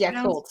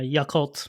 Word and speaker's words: Yakult: It's like Yakult, I think is what it's Yakult. Yeah, Yakult.